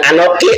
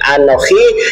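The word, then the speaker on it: אני: bahasa ibraninya anoki pombom bukan anoki anoki salah itu bacanya Ani yahweohha abadim ada ada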